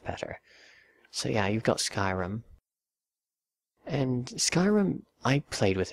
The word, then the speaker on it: Skyrim: the world matters but Skyrim and yes I pronounce it Skyrim and not Sky written because it's Skyrim it's not even debated I mean look at